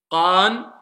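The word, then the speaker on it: ق: Qa, qi, qu, qan, qin, qun. Yallah, vous reprenez. Allez, première lettre. Non, voilà ce que je dis depuis tout à l'heure. Je veux pas entendre K. Qa, qa, qa.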